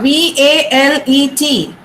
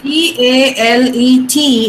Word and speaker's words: valet: Now V-A-L-E-T. Do you know this word? Wallet. V. Okay, listen. V-A-L-E-T is pronounced valet. T is silent there.